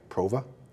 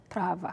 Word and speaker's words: Prava: to say it right, Prova? Prava. Prava. Because it's Cape Verdean.